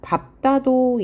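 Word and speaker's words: 밟다: 그 다음에 리을, 비읍, 받침 등에 밥다도 예외라고 했어요. 그래서 리을로 발음하지 않고 밥다라고 발음해요. 밥다, 밥고, 밥지 다 비읍으로 발음합니다.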